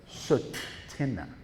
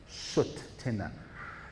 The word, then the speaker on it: Tsuut'ina: So if you can pronounce Tsuut'ina, it's like saying put, but saying soot. Tsuut'ina. Tsuut'ina.